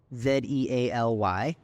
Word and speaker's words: Zealy: How do you spell it? Zealy.